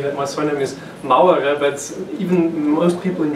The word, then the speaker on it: Mauerer: make a case say that my surname is Mao era but even most people in German cannot pronounce them properly yeah nailed it properly so